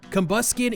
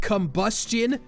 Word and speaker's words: Combusken: Groudon and Kyogre are Grudon and Kyogri, Beldum's mispronounced as Bedlam, Combusken is straight-up Combustion.